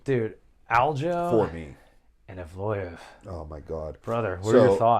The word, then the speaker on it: Evloev: And Evloev. Oh my God, brother, what are your thoughts? I know his name's Evloev, but I'm gonna keep calling him Evelev because I like how that sounds.